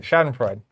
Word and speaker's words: Schadenfreude: Schadenfreude.